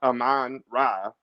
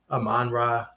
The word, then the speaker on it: Amon-Ra: it's it's tuned or it's hyphenated so you should it shouldn't be one you know you you don't say like michael jones or i don't know i can't think like you just say it's amanda aman ra saint brown you know but but